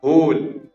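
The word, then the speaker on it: whole: अगला, होल, होल, तो डब्ल्यू का साउंड नहीं है, होल, होल।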